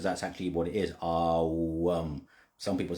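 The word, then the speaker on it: Aum: It's actually A-U. So the O is actually pronounced A-U.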